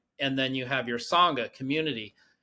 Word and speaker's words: Sangha: Sangha.